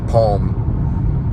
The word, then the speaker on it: Psalms: like it's like a palm david wrote palms that's or psalms psalms the way they say it but it's also sometimes pronounced palm and he stabbed it